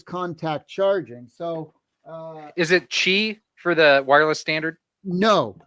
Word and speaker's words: Qi: Hey, let's do Qi charging, which is spelled QI for those out Correct.